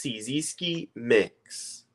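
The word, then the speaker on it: Cyzski Mix: called CI mix so it's spelled like c y z s k i mix so it's cisi mix Okay so cisi mix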